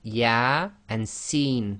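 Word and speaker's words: يس: with these single letters they effectively are pronounced as the name of the alphabet not the sound so here you cannot say y it would be yah and seen so that's both the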